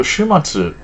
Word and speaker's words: 終末: So Shumatsu, the end times, also is the same way you pronounce weekend.